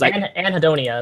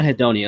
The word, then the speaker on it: anhedonia: This guy says anhedonia is how it's pronounced. Yeah, anhedonia.